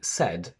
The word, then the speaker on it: said: AI only in said and against, which can also be pronounced as against.